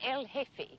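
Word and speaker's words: jefe: The J is silent. El hefe.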